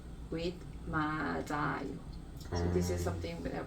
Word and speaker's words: 맞아요: This one goes up to the next syllable.